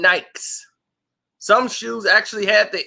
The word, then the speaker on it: Nike: said hell we Nike the actual pronunciation of the word is Nik why do this Focus